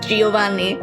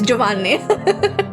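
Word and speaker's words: Giovanni: said hey Giovani Giani if you want to pronounce it actually as an Italian name it's not Giovani it's Jaan fine I'm just spitballing here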